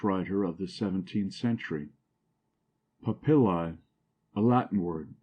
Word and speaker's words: papillae: of the 17th century papillae a Latin word Accent on the second syllable meaning here the rough